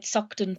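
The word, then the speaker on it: Saughton: protest a welcome party so to speak outside sukton prison in edinburgh at 10 a.m let me spell that for people uh doctor it's s a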